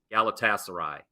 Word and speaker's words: Galatasaray: and0 on the show uh and it is pronounced in case if you forgot PR Galatasaray plus one came through so hopefully I can